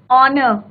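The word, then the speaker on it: honour: ऑनर, एच से शुरू होता है बट हम क्या बोलते हैं, ऑनर, राइट।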